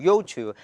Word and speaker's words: Youtu: Youtu, that's a direct pronunciation.